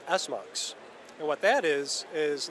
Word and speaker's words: SMUX: what do you say it's how do you pronounce that again s mux s mux okay yeah you'll notice right here it says